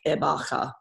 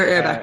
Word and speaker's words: Erbacher: But yeah, I think that they pronounce it way more fancy in Germany. I think they say like Erbacher. But like in Australia, you can't pronounce something like that. Like everyone would be like. So Erbacher is fine.